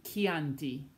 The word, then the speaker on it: Chianti: But if you add an H between the C and the I, that C becomes hard, just like che. Now we have chi, as in Chianti, architetto.